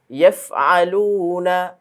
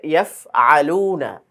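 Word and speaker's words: يفعلون: আচ্ছা, এখানে ইয়াফআলুনা, এই আইন যেন গলা থেকে স্পষ্ট হয়, অনেকের হামজার মতো উচ্চারণ হয়ে যায়, সেটা যেন না হয়।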